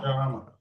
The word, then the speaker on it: भविष्यामः: So pronunciation भविष्यामः Bhavishyamah. Okay.